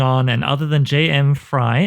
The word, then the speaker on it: Frey: m.f y Twitter is fry s CF y yes I I chose that